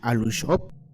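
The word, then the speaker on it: Aluxo'ob: En la lengua maya, el plural de Alush se le pronuncia Alushop.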